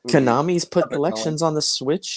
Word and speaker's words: Konami: had that that arcade konami rhymes with salami i'm not familiar with